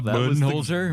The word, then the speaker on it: Budenholzer: That was the question going in, because everyone's always said Budenholzer, and I guess we talked to some people up in Holbrook, where he's from, and they all said, "You're all saying it wrong. It's Budenholzer."